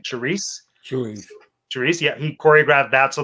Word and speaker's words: Charisse: Charisse.